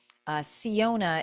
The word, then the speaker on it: Syona: So, Siona, it's spelled Syona, and it's pronounced C as in SEE, seeing ONA.